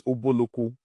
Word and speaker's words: Ubulu-Ukwu: But today the pronunciation is Ubulu-Ukwu.